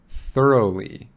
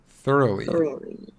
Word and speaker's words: thoroughly: meaning and also i didn't know how to pronounce ah yeah the spelling is very strange so this is thoroughly thoroughly yeah yeah very good yeah thoroughly thoroughly totally